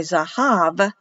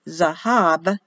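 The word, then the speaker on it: זהב: v so they'll say zahav for gold like victoria but it's written as zahab as a bee for bet zahav gold in the beginning was the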